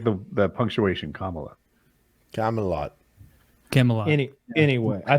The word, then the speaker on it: Kamala: I I keep getting corrected on how to pronounce her name but I don't mean to disrespect when I call her Cala I just thought it was her [ __